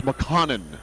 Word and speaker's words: McConnon: Let me correct myself on the pronunciation. It's McConnon. McConnon, yeah. My mistake.